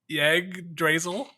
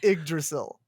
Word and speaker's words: Yggdrasil: So it's Yggdrasil. It's pronounced Yggdrasil. No, it's Yggdrasil.